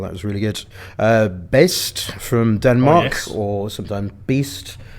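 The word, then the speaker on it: Baest: And then they pronounced it best.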